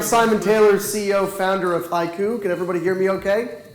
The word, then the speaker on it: HYCU: Hi everybody, I'm Simon Taylor, CEO, founder of HYCU. Can everybody hear me okay? Yep. All right. HYCU stands for Hybrid Cloud Uptime. We do pronounce it like the haiku poem.